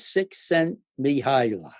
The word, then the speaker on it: Csikszentmihalyi: name no one in the whole world can pronounce, but his name is Csikszentmihalyi.